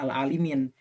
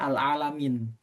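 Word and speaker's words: لِلْعَالِمِينَ: Kalau kalau kita karena kita pakai hafaz ya, mazhab hafaz kita bacanya al-alimin. Nah, kalau selain hafaz itu bacanya al-alamin gitu.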